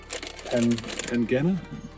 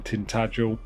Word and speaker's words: Tintagel: From like a traditional pasty making company called Tintagel.